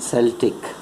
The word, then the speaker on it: Celtic: of William Cooper and Celtic words. So these Celtic words, this word in itself bears two different pronunciations. It is pronounced Celtic in British English and Celtic in American English.